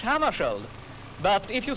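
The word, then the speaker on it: Hammarskjöld: his name correctly well I pronounce it myself in Swedish hammeri but if you say hammeri that's all right with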